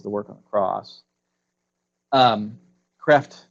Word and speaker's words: Kreeft: work on the cross Kreeft says I'm told that's how you pronounce a crap ma Kraft